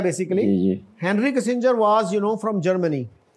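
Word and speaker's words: Kissinger: दिया है अच्छा जी यह किसिंजर यह 70 में अखबार हमारे बहुत कंफ्यूज होते थे कि यह जी जो है ना यह हार्ड जी है कि सॉफ्ट जी है तो कई अखबार कि सिंगर लिखते थे आज के दौर में दिस इज रियली इन एक्सक्यूब कि इतना ज्यादा एक्सपोजर है लोगों का और हमारे आप हैरान होंगे वजीर खार केयर टेकर वजीर खार वो इसको एक में सिंगर कह रहे थे इन दिस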